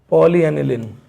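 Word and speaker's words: polyaniline: एल ई पोली pyro दूसरा दूसरा बोलिए pawn पॉली एनलिन एनलिन ए एन आई एल आई ए फिर लास्ट वाले एक और एग्जांपल प्रोनाउंस करिए पॉलिथाई फीन है ना रीडेबल है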